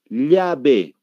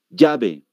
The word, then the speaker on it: llave: En Perú, la gente, para Perú, la gente es difícil pronunciar para ellos la L. Ellos no pronuncian la L. Cuando pronuncian la L, ellos pronuncian con la Y.